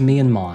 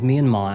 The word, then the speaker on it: Myanmar: today we're traveling to Myanmar and its surrounding countries to uncover the terrible truths about their scam prisons. By the way, Americans pronounce it as Myanmar and Europeans as Myanmar, so depending on where you are in the world, sorry.